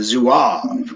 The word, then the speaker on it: Zouave: Some of the publication that I wrote, unique to Adkins family history, about what's called the Zouave caves, Hmm. or if you want to say it properly in French, the Zouave caves.